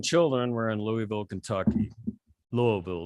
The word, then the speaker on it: Louisville: Louisville is the proper way to say it.